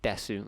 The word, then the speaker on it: desu: and like desu and stuff like that. Desu. Which, if you don't know, the U is silent in all of that stuff.